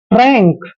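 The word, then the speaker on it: frank: आर ए एन के एफ का उच्चारण फ करते हैं आर को हम र लिखते हैं ए को ए की मात्रा पढ़ते हैं और एन का उच्चारण न करते हैं और के को क पढ़ते हैं फ्रैंक फ्रैंक दोस्तों सच्चा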